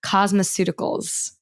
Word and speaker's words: cosmeceuticals: like this concept of, correct me if I'm pronouncing this incorrectly, cosmeceuticals. Was that the correct pronunciation? Yeah.